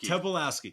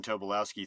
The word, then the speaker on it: Tobolowsky: Tobolowsky.